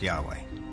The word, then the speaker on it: Yahweh: knew God by his intimate personal name conventionally pronounced Yahweh passages with the name Yahweh which which in